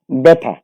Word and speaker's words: ব্যথা: 3টি সূত্রের মধ্যে প্রথম সূত্র, শব্দের প্রথমে জফলা থাকলে জফলা আকার হয়। যেমন ব্যথা, বয় জফলা থয়াকার।